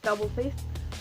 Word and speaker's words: W Face: So the first track is Double Face, or W Face, but it's pronounced Double Face.